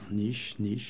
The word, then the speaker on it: Niche: Niche ou Nièche, c'est comme vous voudrez. Bonsoir aux éditeurs. Niche. D'accord.